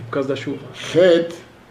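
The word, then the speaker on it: חית: Het é mais aberto. Het. Chaf, mais fechado. Chaf.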